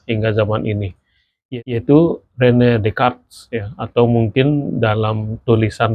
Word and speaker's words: Descartes: Jadi, kalau di sana ee tulisan Descartes tidak terbaca seperti itu ya, tapi dibaca Decart, Rene Decart ya.